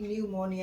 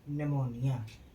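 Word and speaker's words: pneumonia: जब किसी वर्ड में पी के बाद बी एस एन टी आए तो पी का उच्चारण नहीं होता है।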